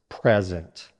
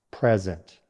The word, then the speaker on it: present: Number 8 is present. First, the noun. Stress on the first syllable. Present. A present is a gift, something given to someone. Listen again. Present.